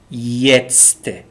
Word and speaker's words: jetzt: Jetzt, J here is pronounced ye. Jetzt means now.